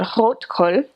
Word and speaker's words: Rotkohl: And rotkohl, which is how you would actually pronounce it, is red cabbage that's been pickled,